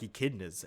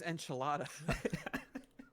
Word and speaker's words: echidna: And then the natives in that beginning scene, they look like echidnas, and I'm like, whoa, are they trying to establish like more already than what we're supposed to?